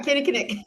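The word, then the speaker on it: Kinnikinnick: Yeah, Kenny Knick.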